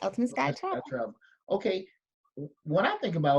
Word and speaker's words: Ultimate Skye Travel: So, with your company, Ultimate Skye, let me pronounce right. Ultimate Skye Travel. Yes, that's correct. Ultimate Skye Travel.